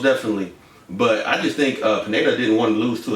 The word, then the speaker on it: Pineda: Pineda. Pineda.